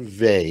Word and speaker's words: Weil: was published in 1950 yes um so simone vay it's actually pretty they i checked and every